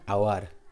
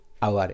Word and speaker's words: hour: has been written an hour an hour h o u r the word has been written from a consonant letter H but the sound is silent here an honest man an